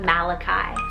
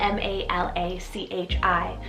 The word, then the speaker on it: Malachi: family now for a biblical option i have malachi cell m-a-l-a-c-h-i malachi this is hebrew originated meaning my messenger